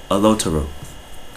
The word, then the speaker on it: Oloturot: No, Oloturot. Oloturot. That's how you say it.